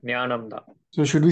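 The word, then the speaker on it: ज्ञानम्: It is ja plus na together. Nya, right? So you can't pronounce the two together. So you're saying jnanam. So you're just saying jnanam.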